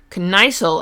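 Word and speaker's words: Kniesel: of our connor introduction matt connicel apparently is how you pronounce his name oh author's notes these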